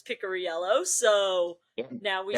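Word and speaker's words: Picariello: Like half of the broadcast say Picorello, which is what I thought it was, but he informed us it's Pickoryello, so now we say that correctly.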